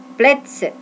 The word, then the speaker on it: Plätze: Ingat ya, A umlaut, A titik 2, A umlaut, titik 2 dibacanya E. Di Plätze.